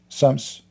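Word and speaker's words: شمس: Like in the Aramaic, sometimes the letter S pronounced as Shin, sometimes as Sin. So Shams, the same word, Sams, which means sun, Shams.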